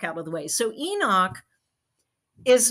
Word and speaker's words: Enoch: And I think another one, if I'm pronouncing this right, is Enoch. Enoch.